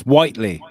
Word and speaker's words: Whiteley: It's Whiteley. Don't you dare say Whitley.